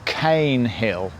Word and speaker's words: Caen Hill: and she tells me it is pronounced cane hill so we are at